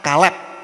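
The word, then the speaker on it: כלב: Bacanya dari kanan ke kiri, ya. Ini kof, ini lamet, ini bet. Bacanya kalep begitu kalau ada tanda bacanya.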